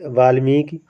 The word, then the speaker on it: वाल्मीकि: और वाल्मीकि, वाल्मीकि होता है दोस्तों, का पर छोटी की मात्रा रहेगी, वो वाला आपका सही होता है वाल्मीकि। हम बहुत बार उच्चारण कर देते हैं वाल्मीकि, वाल्मीकि, का पर बड़ी की मात्रा का प्रयोग कर लेते हैं वाल्मीकि, लेकिन वाल्मीकि आपका नहीं, वाल्मीकि, का पर छोटी की मात्रा रहेगी, वो वाला आपका सही होगा।